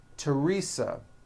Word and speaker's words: Teresa: spelled with a th they are pronounced as if they were spelled with a normal t t like that and these words are thomas thompson teresa thailand thames like the